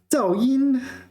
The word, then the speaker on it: 噪: Okay, next is 噪音, 噪音, and I must remember 噪 is fourth tone.